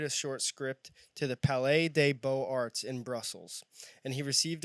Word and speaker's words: Palais des Beaux-Arts: I purposely didn't look up or tell you how to pronounce Palais des Beaux-Arts.